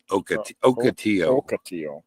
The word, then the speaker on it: ocotillo: So and if you're wondering how to pronounce that, right there, ocotillo.